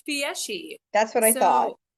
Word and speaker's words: Fieschi: How do you pronounce the last name? it's Fieschi.